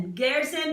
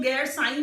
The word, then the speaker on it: गैरसैंण: गैरसैंण पढ़ा जाता है, कुछ लोग गैरसाई पढ़ते हैं, बट एज फार एज I know the pronunciation of the place is गैरसैंण।